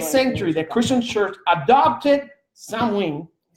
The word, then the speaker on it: Samhain: In the 8th century, the Christian church adopted Samhain. Don't pronounce the M. Samhain. The Christian church adopted Samhain, and turned it into All Saints' Day, and All Hallows' Eve was celebrated the night before.